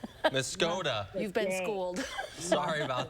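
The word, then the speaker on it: Muscoda: It's Muskota. Muskota. You've been schooled. Sorry about that. Okay. Gotta change the pronunciation.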